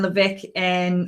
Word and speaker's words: Levesque: I am so stoked to have the incredible Ryan Levesque on the show today.